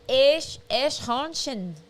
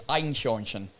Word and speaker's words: Eichhörnchen: The way I've learned to pronounce it, or the way I did it in my stand-up show, was Eichhörnchen. It could be Eichhörnchen. I think it depends where you're from in Germany, but it's complicated.